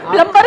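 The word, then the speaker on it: plumber: हो सकता है वो- सर उसको खुद ही नहीं पता कि बी साइलेंट है।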